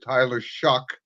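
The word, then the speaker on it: Tyler Shough: 1-7 or 1-9, and they finally, they drafted Tyler Shuck. That's the correct pronunciation.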